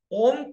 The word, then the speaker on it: ओम: इसमें लम का उच्चारण 15 बार, ओम का उच्चारण 15 बार। ओम भी कैसे बोलेंगे? म लंबा, ओ लंबा, आधा आधा, ओ आधा, म आधा, ओ, म आधा, ओ आधा।